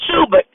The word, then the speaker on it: Schubert: Not Sherbert, but Schubert.